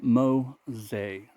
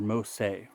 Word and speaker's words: Mossei: and they responded, and it's Mo like mono, that's the name of the razor, and then say like the word say.